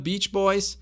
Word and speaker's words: Beach Boys: muito conhecida edabit pois tem cuidar porque Beach é praia e Pet é vagabundo então palavrão palavrão aqui então vamo Beach Boys os garotos da praia